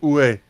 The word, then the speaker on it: oui: Although and that was also where I learned where oui is in fact pronounced oué. Oué. Oué. Well, that's like the more casual.